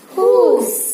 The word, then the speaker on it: whose: இந்த இடத்துல W is silent. இப்ப ரீட் பண்ணி பாருங்க. Who, whom, whose.